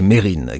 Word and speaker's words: Mesrine: vais vous parler de Jacques Mesrine car en effet le S ne se prononce pas ennemi public numéro